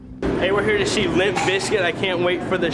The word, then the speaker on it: Limp Bizkit: him that much uh originally it was always pronounced Limp Biscuit I believe but originally the name was spelled